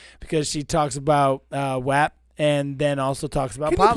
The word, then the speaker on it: WAP: The song is pronounced WAP.